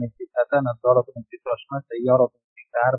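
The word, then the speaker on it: سيارة: সাইয়ারাতুন একটি কার বা গাড়ি, সেটাই বলে। সিন ইয়া আলিফ র তা, সাইয়ারাতুন একটি কার বা গাড়ি।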